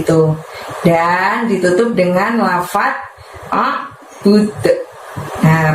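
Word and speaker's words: أَعْبُدُ: Dan ditutup dengan lafaz a'bud. Nah, pada saat mengucapkan tadi mulutnya tidak dibuka lebar, dan pada saat melafadzkan budnya tadi itu kita mantulkan ya suaranya bud, seperti ada suara d dengan ringan bud gitu ya.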